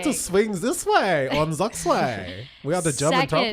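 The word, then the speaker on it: Zugzwang: All right, the first one is Zuxfang. Zuxfang, can we spell it for our radio audience, That is please?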